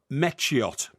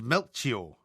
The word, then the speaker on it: Melchior: Gaspar, Balthazar, and Mechiot. Incorrect. No, right. it is. No, it's Melchior. Oh, come off it. Melchior.